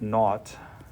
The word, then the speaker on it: naught: This little 0 here is pronounced naught, as in naughty, but naught.